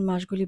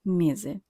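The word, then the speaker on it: mesi: ঠিক একইভাবে মেজির ওখানে আমরা বলবো মেজি, আমরা বলবো না মেসি।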